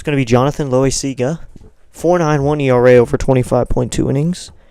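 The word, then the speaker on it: Loáisiga: Loaisaia, that's what it is. Loaisaia. That's a way to pronounce it.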